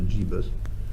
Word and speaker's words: gibus: I think rather sort of up-and-coming types might call it a gibus. That's how you pronounce it, is it?